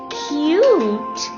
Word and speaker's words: cute: Cub, cube. Hug, huge. Cut, cute. Tub, tube.